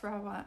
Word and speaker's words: Rawa: Is it like Rawa? Or is it like, do I roll the R? Just want to make sure. Yes, Rawa.